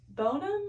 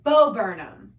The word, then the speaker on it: Bo Burnham: Oh, no, it's Bonham or whatever his name is. It's like everyone's a feminist until there's a spider around. Oh, Bo Burnham.